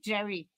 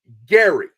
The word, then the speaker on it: Gerry: his Pharmacy and they keep calling him Jerry even though I always say my name he almost hulked out